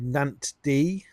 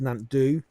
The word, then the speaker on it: Nant Ddu: Today I'm at a little place called Nant D or it might be pronounced Nantdu. Um which literally translates to black stream.